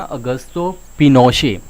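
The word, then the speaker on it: Augusto Pinochet: सो यहाँ पे general ऑगस्टो पिनोशे, ठीक है, ठीक है, सो इनकी प्रोनाउंसिएशन के ऊपर यहाँ पे ध्यान देना, ऑगस्टो पिनोशे।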